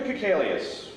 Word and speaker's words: Kikalius: Kikalius, rhymes with alias.